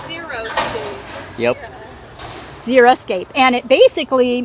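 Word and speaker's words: xeriscape: mean it's means actually it's Greek for dry and it's spelled x e r i so that's zeroscape yep zeroscape and it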